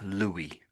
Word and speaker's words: Louis: So they're basically the same name, but the French one is pronounced should be pronounced Louie. Louie Louie.